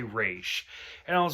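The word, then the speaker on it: Ra's al Ghul: piss me off because they only say raw's al ghul and i'm like that's not his name and so like i think batman is one of them that he says race like he knows how to say the name so i i like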